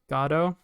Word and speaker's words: Godot: Pronounced Godot like tomato.